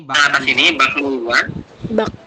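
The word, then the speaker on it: 박물관: Jadi sini disampaikan bahwasanya kalau ada huruf giok ketemu dengan salah satu huruf ini, ya nien, miem maupun riel, posisi huruf yang ada di bawah, ya Robun, itu akan berubah bunyi menjadi eng.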